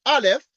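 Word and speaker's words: aleph: symbol n like this is a is a Hebrew letter pronounced Alf and the canity of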